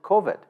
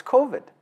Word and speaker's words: COVID: respectfully to the premier he still mispronounces the name kovid he calls it kovit and the issue there is that no one actually dares to correct him and say hey boss it's coveted and so because of